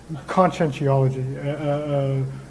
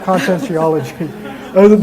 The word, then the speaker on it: Conscientiology: Conscientiology, like sentience, conscience. Oh, yeah. With an ology stuck on there so you can't pronounce it. Conscientology. Okay. Conscientiology, the study of consciousness as a science.